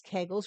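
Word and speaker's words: Kegel: Pelvic floor exercise, otherwise known as kegles or keigull, however you want to pronounce it.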